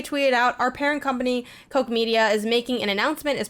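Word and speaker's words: Koch Media: strange true colors and coke media which i believe that's how it's said it's spelled k-o-c-h um they are gonna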